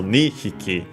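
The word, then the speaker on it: 二匹: before the uh hickeyi For example, nihiki, two small animals. Yeah, the accent is on the knee.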